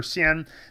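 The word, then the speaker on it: 鲜: be the video for Xian, that this can also be pronounced Xian when it is in certain words, and the most common is Chaoxian, which is the Chinese word for North Korea.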